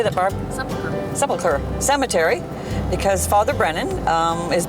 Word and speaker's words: Sepulchre: Sepulchre Cemetery, because Father Brennan is buried there.